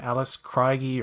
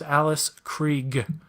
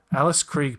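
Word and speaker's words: Alice Krige: Alice Creek I know everybody's pronouncing her name Alice craigie or Craig or they're not saying nobody's saying her name right her name is Alice Krieg Alice Krieg people okay just want to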